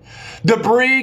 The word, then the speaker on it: debris: in a pronunciation like debris with a silent S at the end debris guys is uh normally